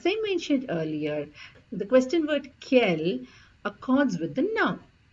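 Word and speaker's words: quelles: l l e s so however the pronounciation Remains the Same for all four of them it is K I have given two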